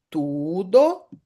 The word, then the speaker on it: tudo: Primeiro nós vamos prestar atenção na pronúncia tudo. Todo. Então, tudo é como se eu estivesse escrevendo com u.